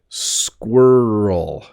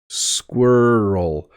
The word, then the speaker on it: squirrel: I say it slowly squirrel squirel um if I say it quickly it's almost hard harder to say squirrel squirrel it almost it's like we crunch the word together um but yes squirrels